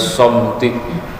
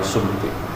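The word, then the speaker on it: صمت: Yaitu fi fadilatis somti. Somti bacanya, jangan sumti.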